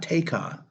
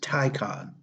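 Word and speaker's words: Taycan: is the porsche and it's spelled t-a-y-c-a-n but it's not taekon it's tycon porsche tycon cross turismo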